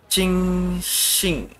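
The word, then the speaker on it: Qixing: You think the Qing Xing. Ini bacanya CH ya kalau orang-orang itu.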